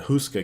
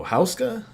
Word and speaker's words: Houska: was going and i i was pronouncing it wrong i was saying the husker castle and he's like oh houska so yeah yeah yeah and